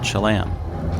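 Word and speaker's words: Cholame: another small town called chalam again everyone pronounces the name of this town differently but i choose to use the pronunciation i hear from my buddy matthew grant who not only grew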